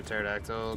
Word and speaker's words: pterodactyl: I can't hear a pterodactyl. Go to the bathroom because the P is silent.